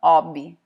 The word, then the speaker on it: hobby: Em italiano eles falam hobby, porque eles não leem o H como R. O H é mudo, igual a gente lê em português.